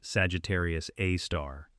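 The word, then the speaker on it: Sagittarius A*: It is called Sagittarius A, pronounced Sagittarius A star and it was the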